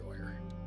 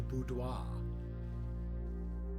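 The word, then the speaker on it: boudoir: tempting for the three keys, but we're going to go with the doer. Yes, I am intentionally mispronouncing that just it is the budois.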